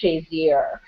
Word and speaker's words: Shazier: and I know I'm going to say his name wrong, so Ryan, bear with me. I'm sorry. I believe his last name is Shazier.